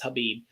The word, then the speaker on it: Khabib: And actually, I guess the right way to say it is Habib.